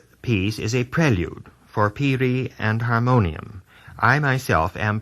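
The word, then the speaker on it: piri: our terms uh in the United States Peri is spelled p i r i Peri and it is an alos a double read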